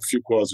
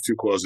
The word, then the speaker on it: Fuqua: But my name is well known, and there's a lot of Fuquas in Georgia, and there's a lot of Fuquas in Louisiana. And I've been saying it wrong. I say Fuqua. It's Fuqua.